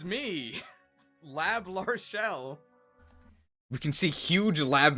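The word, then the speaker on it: L'Arachel: is centered it's labell people were wondering how to pronounce her name it's lab arell is this our new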